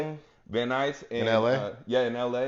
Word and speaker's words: Van Nuys: It was in Van Nuys. Is that how you say it? Van Nuys.